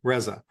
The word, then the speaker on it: Reza: generated podcast that's uh Ahmed razza RZA how do I Reza Reza okay and that's spelled a